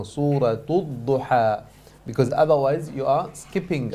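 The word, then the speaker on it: سورة الضحى: So clearly the Shaykh mentioned that don't forget the ta marbuta with a dhamma. Make sure you pronounce it as well. Do not skip it. Do not say Surah Ad-Duha. No, Suratul Duha.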